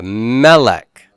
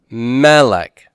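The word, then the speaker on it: מלך: Yeah, melech. Melech. Double segol and first syllable stress.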